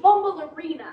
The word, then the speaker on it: Bumbleorina: Her name is pronounced Bumbleorina, Heidi. That's what I said. Bumbleorina.